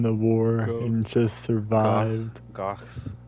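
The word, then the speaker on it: Gough: Gooff rhymes with cough.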